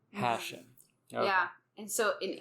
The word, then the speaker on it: Hashem: But Hashem has emphasis on the first. Hashem. Hashem.